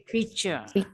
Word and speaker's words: picture: Pokoknya kalau ada T-U-R-E bacanya cher. Gambar itu Picture.